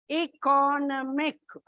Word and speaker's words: economic: Economic. Mix. It's on the second syllable.